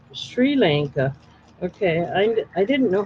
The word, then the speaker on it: Sri Lanka: Shri, not Siri. Shri with an H. It's a little easier to pronounce. Sri Lanka.